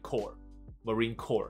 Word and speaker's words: Corps: 海军陆战队就是 Marine Corps，他的发音就跟 C O R E 基本上是一样的 Corps。